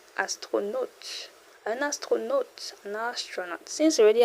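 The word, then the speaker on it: astronaute: A U sounds O. Astronaut. An astronaut.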